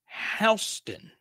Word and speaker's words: Houston: So the pronunciation of Houston is actually Houston.